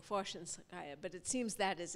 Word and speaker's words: Khvoshchinskaya: not aware that of what is probably the correct pronunciation is with the accent on the first syllable, and I have for 25 years been calling her Khvoshchinskaya, but there are strong arguments for Khvoshchinskaya.